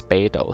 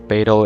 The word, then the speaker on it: Beidou: her name pronunciation is beto so beto is close enough in terms of english approximation her name means the